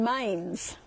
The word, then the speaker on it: Mainz: And in Germany, I'm going to be down, I fly into Frankfurt, and my friend lives in Mainz. I think that's how you pronounce it, M-A-I-N-Z, Mainz.